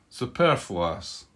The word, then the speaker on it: superfluous: Superfluous. That's how it's pronounced.